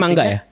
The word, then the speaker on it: manga: mangga secara liter ee literal bacanya mangga mangga Heeh jadi ada nonun mati ketemu gua dibaca kan dengung tuh gitu mangga gitu gitu jadi ee itu memang